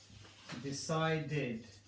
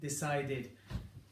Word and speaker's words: decided: For this third example, I'm actually adding a syllable to the word. Waited. Wait is a 1-syllable word, waited. Decided. Decide is a 2-syllable word, I'm adding a syllable, decided.